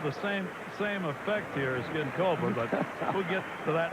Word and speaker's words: Ginkoba: How's that pronounced? Ginkoba.